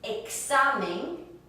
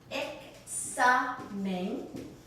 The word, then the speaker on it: examen: When it comes, again, between vowels, for instance, as in examen, examen, it sounds like that K and an S put together.